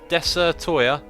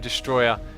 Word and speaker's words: Desatoya: says sorry bro my name is said like this deser Toya deser Toya most people just look at the name and assume Destroyer even though the name says desatoya switch the T andr